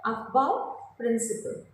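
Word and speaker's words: Aufbau: Okay, it is pronounced as अफबाउ प्रिंसिपल। ये एक rule दिया था बाय the scientist अफबाउ, इट वाज a rule given by the scientist.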